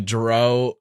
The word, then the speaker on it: Jeroux: so Jessica jro JJ the jro has like a silent X at the end cuz I'm obsessed with